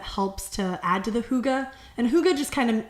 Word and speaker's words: hygge: shout out to chelsea um called hygge it's pronounced hygge but it's spelled hygge and it's it it's